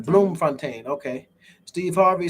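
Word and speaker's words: Bloemfontein: describe it to people bloom pronounced bloom fontaine okay steve harvey said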